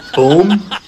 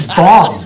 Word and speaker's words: bomb: word would be it would be boom no it's bomb you don't see how